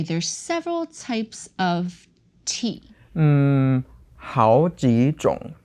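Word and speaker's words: 好几种: So we modified that 种 to second tone, the word for types. 好几种酒.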